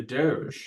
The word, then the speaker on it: DOGE: I'll start with the Doge, and that is how you say it, the Doge. I think that's the uniform pronunciation.